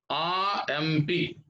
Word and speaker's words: RMP: RMP. RMP. RMP. So we have to pronounce like this. So that's why RMP. So that's why, since this abbreviation begins with the vowel sound of A, we have to say,